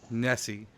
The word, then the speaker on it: Nessie: Nessie. Hey. And it rhymes with Jesse.